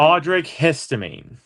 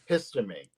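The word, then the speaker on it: Audric Estimé: Audrey Histamine. Histamine.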